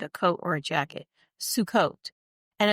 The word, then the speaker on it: Sukkot: It's pronounced sue coat, like s o o o o o o